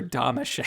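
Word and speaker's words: Domashev: Victor Damachef. Whatever. And and then say say his name, Chris. It's Victor Damashef.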